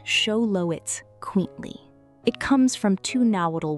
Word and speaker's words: Xoloitzcuintli: The name is pronounced show-lo-its-quint-li.